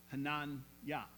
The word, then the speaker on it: Hananiah: of the heat now their names in Hebrew would actually be pronounced Hanan yah Mish AAR yah because each contained a portion of the name of God Yahweh El Shai Elohim